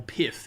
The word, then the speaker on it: Pyth: big big Underdog and that's pyth or pith is technically the way you're supposed to pronounce it but I'm going to call it pyth because I think pith sounds ridiculous so pyth is uh